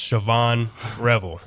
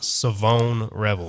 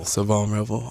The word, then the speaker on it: Shavon Revel: committed has has been pronouncing as sioban Revel and that's you know obviously that's how it's spelled but that's not the correct pronunciation so it is savone revel savone revel oh I was gonna